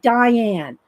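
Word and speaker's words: Dyan: how did she say does say it like Diane like princess die that's how I can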